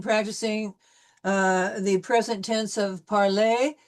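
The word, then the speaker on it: parlent: present tense of parler, we will not be pronouncing that. It'll be parle, il parle, elle parle. So in this particular case, you see that the ENT is not pronounced at all. We'll end the sound with the L.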